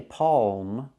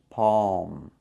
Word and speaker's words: palm: like saw and law what about the L we don't really make the L the tongue doesn't touch the roof of the mouth we don't say Palm the tongue goes up a little bit but doesn't touch the roof of the mouth so the tongue goes up PA